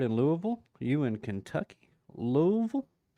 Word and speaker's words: Louisville: Louisville? Louisville?